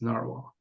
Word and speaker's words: Nahvalur: the word narwhal um and then since Nar is easy to pronounce for everybody so um that's kind of why we kept pronunciation still at snaro so yes we still call ourselves Naro yes um uh and